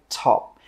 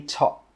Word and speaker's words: top: And with that final P sound, we stop the air from coming out and we just say top. We don't say top.